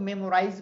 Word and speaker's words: memorize: Memorize याद करना। इसको बहुत लोग memorize बोलते हैं, that's not correct. The real pronunciation is memorize.